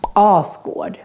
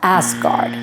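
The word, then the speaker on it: Asgård: marvin movies and in the north mythology is oscar yes that is how it should be pronounced not asgard all squad is the home of the arthur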